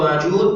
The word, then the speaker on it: Ma'juj: Disebutkan yajma aktsarul qura alla anna Ya'juj wa Ma'juj bighairi hamzah. Jadi sebagian qura, para ahli Quran, mereka membacanya Ya'juj wa Ma'juj, tidak ada hamzahnya.